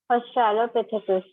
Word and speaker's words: Australopithecus: Australopithecus. See, you put a line over here. Break this word Australo. What is the word? Australopithecus. Pithecus.